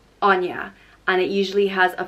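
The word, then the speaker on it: Áine: the goddess of summer and wealth and it's pronounced on yeah Anja and it usually has a father over the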